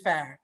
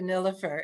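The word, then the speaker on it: Nilüfer: Well, the actual pronunciation is Nilufer, but I'm so used to Nilufer, it's good for me.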